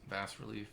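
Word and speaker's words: bas-relief: So that's how it's pronounced. Bass relief. Bass relief.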